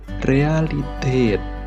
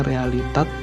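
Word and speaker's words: Realität: Contohnya di sini ada realiteit. Oke, beda kan ya? A yang sama ini sama di sini. Kerasa kan ya? Harusnya realitat tapi jadi realiteit.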